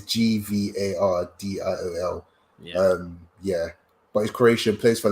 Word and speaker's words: Gvardiol: It's Gvardiol.